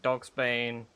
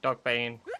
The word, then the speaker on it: Dogbane: And Dogsbane. Sorry, Dogbane. Why is it not Dogsbane? Why is there no S? The fact there's no S really upsets me, because now I always mispronounce it.